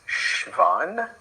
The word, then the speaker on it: Schwann: correctly in german it's schwann the w has a kind of v sound schwann uh i think